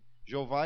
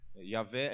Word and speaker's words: Yahvé: Jeová é a pronúncia mais longe da real pronúncia. Yahvé é muito mais fiel do que Jeová.